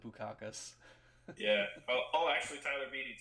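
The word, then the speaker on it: Bukauskas: I pronounce it Bukakis.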